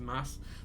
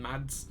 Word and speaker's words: Mads: It's spelled M-A-D-S, but it's I know it's pronounced closer to Mass than Mads.